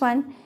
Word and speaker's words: one: euro it is wrong and in the next one he gave me a one rupee note here